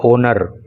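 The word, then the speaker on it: honour: होने के अतिरिक्त देखो इसके प्रोनंसिएशन पर आपको विशेष ध्यान रखना इसको होनर नहीं बोलते हैं इसको बोलते हैं ओनर एच को साइलेंट रखते हैं तो गेस्ट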